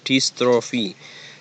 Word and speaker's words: dystrophia: juga dengan distrofi otot dystrophia pengucapannya dystrophy secara tepat disebut sebagai